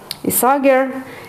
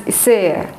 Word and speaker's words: Isager: Isager, I think that's the Danish way of pronouncing it.